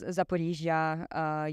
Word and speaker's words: Zaporizhzhia: okay, now I really know what the correct pronunciation is. And so it is Zaporizhzhia, it is Kharkiv, it is Donetsk, it is not Donetsk, as a lot of So not Kiev.